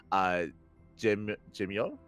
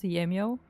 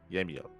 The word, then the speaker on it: Gemio: We have Spirit, Trifax, Gemio. Too familiar with Gemio? Nurture, Dana, Fanatic, Christiana, and Bapi. It's pronounced Yemio. Yemio. There you go.